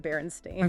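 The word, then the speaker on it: Berenstain: I know it feels that way, but it's spelled B E R E N S T A I N Arenstein, pronounced Baronstein.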